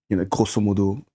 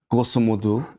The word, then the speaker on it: grosso modo: Where I'm from, I think in terms of grosso modo, like mainland China. Although I'm what? Grosso modo, like sorry. Is that Latin? No, well, there's Latin, but pronounced in the French way because they say that.